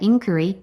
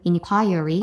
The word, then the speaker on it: inquiry: 발음은 두 개 다르요. inquiry, inquiry.